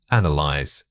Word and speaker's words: analyze: The word is analyze. Say it again. Analyze. This word is often mispronounced with too many syllables or a misplaced stress.